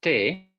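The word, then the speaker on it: τῇ: Okay, it's te, tau, eta, with a iota subscript under the eta.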